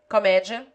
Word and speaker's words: comédia: Except the following, which take it on the antepenult: comédia, polícia, enciclopédia, geodésia, estratégia, necromância, farmácia.